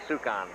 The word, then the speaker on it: Sukan: No, it'd be Sukan. Sukan is the way you pronounce that.